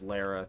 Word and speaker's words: Lara: They've turned Laura Croft and la is it Laura or Lara? I think it's Lara technically. I think it's like a tomato tomato caramel caramel situation where people pronounce it differently even though it's probably objectively Lara now that I think of it.